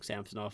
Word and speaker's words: Samsonov: I'll start saying Samsonov, if that's how he wants it pronounced.